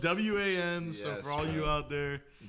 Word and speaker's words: Wan: One, and it's spelled W-A-N.